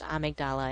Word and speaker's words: Amygdala: death and i know the portion of the brain is called the amygdala but it's pronounced amigdala in the game and that's how i'm